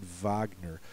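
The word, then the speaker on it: Wagner: to the most famous German opera composer Richard Vagner so anything that sounds like it could be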